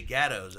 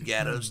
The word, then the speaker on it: Gatto: I go, it's pronounced gatto, and you guys say gattos.